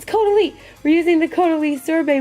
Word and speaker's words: Caudalie: I say Caudalie. Caudalie. Oh my god, that's it. Caudalie. It's Caudalie.